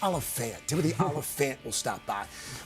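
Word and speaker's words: Olyphant: I always pronounce it Oliphant. It's Oliphant.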